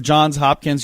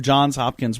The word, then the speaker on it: Johns Hopkins: whole lot about who Johns Hopkins was and as you mentioned I think a lot of people probably have pronounced it the way I have without the S on John's and I wonder why